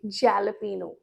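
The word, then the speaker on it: jalapeño: बहुत लोग अभी बोल रहे होंगे jalapeno. It's not jalapeno. Jalapeno.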